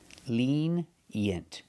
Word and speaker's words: lenient: We have the short S sound like eggs and bed. Yent. Lenient. Together, lenient. Put the stress on the first syllable.